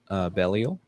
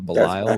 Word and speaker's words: Belial: It's the baptism of Belial or Belial, whichever way you want to pronounce that.